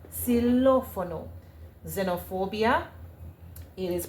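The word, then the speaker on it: xilófono: Silophono, we spell it with a X, but in pronunciation in Spanish, it's it's pronounced with a S. Silophono.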